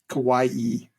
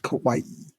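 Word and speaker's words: Kauai: Loui we stayed on Kawaii the island of kawaii which I discovered I was saying it wrong I was saying it Kawai it's Kawaii really I would not have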